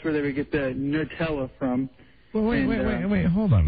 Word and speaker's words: Nutella: Like N-U-H, Nutella? Sort of along that line, yeah. Well, then wait a minute. Then is it new or nuh?